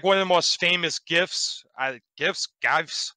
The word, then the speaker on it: GIF: they it's like one of the most famous gifts uh gifts guys how do you say that